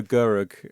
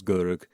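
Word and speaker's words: Görög: Um Amelia was played by Zeta Gurug or Gorog depending on how she's uh listed. Um, but she's got the umlouts over both O's in this version, so I'm gonna try and pronounce it as Gurug.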